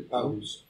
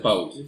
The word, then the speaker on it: Pauls: ¿Cómo se pronuncia tu nombre? Pauls. Ah, se pronuncia Pauls.